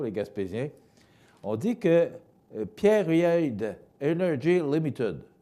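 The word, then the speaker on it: Pieridae: On dit que Pierre-Reid Energy Limited, ça s'écrit P-I-E-R-I-D-A-E, Pierre-Reid, j'espère que je le prononce bien, qui a fusionné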